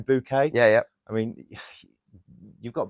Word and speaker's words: Bucket: Bucket. Yeah. And she pronounced her name Bouquet.